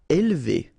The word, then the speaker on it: élever: Élever. Alright, so don't pronounce this here. Élever, élever.